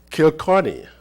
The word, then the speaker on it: Kilkenny: Born and raised in Kilkenny, did I say it right? Kilkenny? Yeah, Kilkenny, a medieval town in southeast Ireland, Sister Britt O'Shea moved to California in 1974.